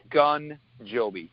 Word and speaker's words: Ogunjobi: Is that how you say his name? Ogunjobi? Ogunjobi, yes. Man. It almost like it's spelled.